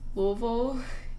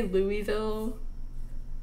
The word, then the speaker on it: Louisville: Louisville? Yeah, that's the Kentucky way to pronounce Louisville. If you say Louisville, you get banned because they'll kill you if you say Louisville.